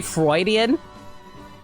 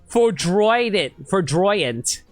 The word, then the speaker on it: Foudroyant: Did I just say Freudian? It's pronounced Foudroyant.